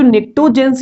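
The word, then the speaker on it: pnictogens: तो ये जो निक्टोजेंस यहाँ पर लिखा गया है इसे पी साइलेंट है, तो निक्टोजेंस इस ग्रुप 15 के एलिमेंट्स को बोलते हैं।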